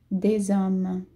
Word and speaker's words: des hommes: Des hommes. A gente fala des hommes, lembrando que eu falei antes que o S tem som de Z e o H é mui, ok? O H é mudo.